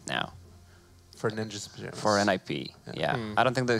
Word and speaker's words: NiP: I read about it's it's not too pronounced nip it's pronounced ni p I think the calendar